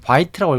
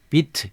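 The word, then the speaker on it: Vite: 사용하기 위해서 어떤 시청자분께서 제가 이거를 바이라고 읽었더니 이게 실제로 프랑스어 어원이 라서 비트 이렇게 읽어야 된다고 합니다 비트이 비트로 프런트 엔드를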